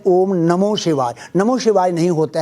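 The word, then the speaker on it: ॐ नमः शिवाय: शिवाय नहीं होता है कहीं पर भी नमः शिवाय ओम नमः शिवाय यह ऐसा बोलेंगे तो ठीक होगा क्योंकि ओम नमो शिवाई वह नहीं नहीं होता है नमः शिवाय का उच्चारण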